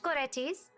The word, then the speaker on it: Goretti: Goretti's. Ah yes, Saint Goretti, so that's how you pronounce it.